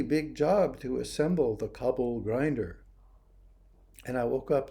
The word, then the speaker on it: Kabul: a sub submarine and kabul was the way the british pronounced the capital of afghanistan kabul kabul like cublichana big chickpeas anyway chickpeas